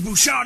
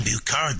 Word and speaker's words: Bouchard: Is that how you say it? See, I've been saying Bucard this whole time.